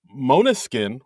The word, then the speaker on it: Måneskin: about uh this week's episode uh musical guest Mona skin which I just found out how you pronounce it right and uh the guest ladies